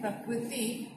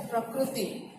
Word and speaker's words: प्रकृति: और हिंदी में जो हम री का उच्चारण करते हैं, जो री, आप लोग इसको उड़िया में रू कहते हो, लेकिन हिंदी में हम इसको री कहते हैं। जैसे कि प्रकृति हम बुलाते हैं प्रकृति, आप कहते हो प्रकृति, ठीक है। तो ये उच्चारण भेद को समझना है। रू का उच्चारण करते समय खासकर उड़िया में रू कहा जाता है और हिंदी में उसको री उच्चारित किया जाता है।